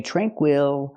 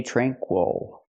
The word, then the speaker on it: tranquil: word tranquil tranquil again the stress is on the first syllable so we don't say tranquil we say tranquil let's talk about the